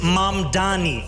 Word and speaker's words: Mamdani: The name is Mani.